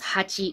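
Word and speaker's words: 八: 5 is go, and now 8 is actually traditionally or normally pronounced as hachi, but in some cases, especially with kanji combinations, so they use the sound ya.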